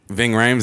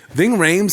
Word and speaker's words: Ving Rhames: ] right there that's some Ving Rhymes and then he was in uh Chuck and Larry and now pronouncing Chuck and Larry Ving Rhames have you ever seen that movie no but